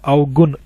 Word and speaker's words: अवगुण: हैं आप मेरी बात, इसलिए मैंने बोलना अवगुण, ना ये ना है और ये णा की साउंड आनी चाहिए, अवगुण, गुण है ना, ये अवगुण, इसलिए मैंने इसको भी ज्यादा स्ट्रेस दिया था।